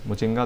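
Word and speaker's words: Muchinga: तो माउंट मिचुंगा आप स्पेलिंग देख लो, माउंट मिचुंगा, ठीक है। तो ये दोस्तों माउंट मिचुंगा हो गया। मुचिंगा है, मुचिंगा, मिचुंगा नहीं, मुचिंगा, मुचिंगा, ये जाम्बिया में पड़ता है, ठीक है।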